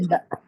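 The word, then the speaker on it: باء: C'est le B en français, tout simplement. Je répète, la lettre bas en arabe, c'est le B en français. Aucune différence de prononciation. Normalement, vous savez tous la prononcer. bah, ألف bah.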